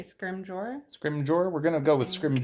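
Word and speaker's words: Scrimgeour: Jour scrim Gore scrim I think it's a soft G scrim scrim Jour we're gonna go with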